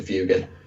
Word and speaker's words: Fuegan: Fuegan like Fuego, fire. Fire Dragon, fire. Fuego, Fuegan. Yeah, it's probably is that, but most people just anglicize it to Fugan.